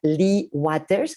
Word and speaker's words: Lea Waters: De hecho, ahorita que hablamos de fortalezas, hay un libro muy bonito de la doctora Lee Waters, se escribe Lea Waters como agua en inglés, y que se llama Crianza centrada en fortalezas.